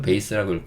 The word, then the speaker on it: base: 오늘 가져 오진 않았지만 , B-A-S-E 는 "base" 로 , V-A-S-E 는 "vase" 로 읽지만 , 영어 발음 은 실제로 약간 다릅니다 .